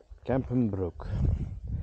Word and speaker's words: Kempenbroek: We are now at the root of Kempen, I must say it correctly, Kempenbroek.